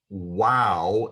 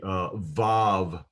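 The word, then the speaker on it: ו: the holland vav again our study guide uses wow instead of because those scholars believe that in biblical times the vav consonant was pronounced as a w sound rather than a v sound but i'm convinced that the vav was pronounced in biblical times as a v sound and it continues to be pronounced as a v sound in modern hebrew today so this is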